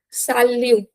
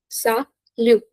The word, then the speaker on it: salut: Okay, next is salut, salut, salut. Okay, t is silent here.